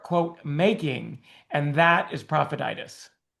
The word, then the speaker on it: Profititis: So, what is prophetis? Did I say it right? Yeah, you said it. You know, like laryngitis, some other kind of itis. It's an itis. It's an itis of the profit.